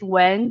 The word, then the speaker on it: Wen: My name is Wen. You can think of it, if not now, when?